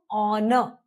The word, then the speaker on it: honor: If you remember so honor and also as we are talking about silent letters H is silent.